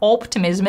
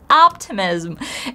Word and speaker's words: optimism: something nice first of all the letter O but the sound ah optimism it's not optimism it's optimism and if you still struggle